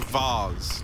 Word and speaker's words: vase: I would drink out of a vase or a vase. True. Yeah. I don't know how you say it. Hey. How do you say that word? Vase. Vase. Vase is American.